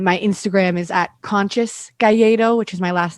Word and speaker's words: Calleiro: d-a-n-i and then c-a-l-l-e-i-r-o it's spelled like calero if you spell it like that and then my instagram is at conscious gallero which is my last